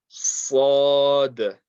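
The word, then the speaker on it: ص: Sad, sad, sad. The tongue touching the bottom teeth, and it's a heavy letter, so we put lots of pressure there on the makhraj.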